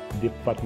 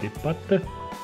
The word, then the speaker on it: des pâtes: دي بات ما نطقوش الاس نقولو دي بات.